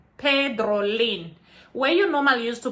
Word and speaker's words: Pedrolin: to pronounce my name so my name is spelled with with a p e d r o l i m pedrolin where you normally used to put it a